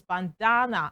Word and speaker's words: bandana: Okay, so uh looking at the transcription right there, it tells us bandana. And that means the stress is placed on the second syllable. Bandana. Okay, and that's awa sound at the end of uh the transcription.